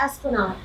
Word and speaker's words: Esplanade: You're pronouncing that incorrectly. It's the Esplanade.